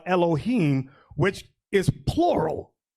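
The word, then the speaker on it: אֱלֹהִים: That terminology, God, which in the Hebrew they pronounce it Elohim or Elohim, which is plural.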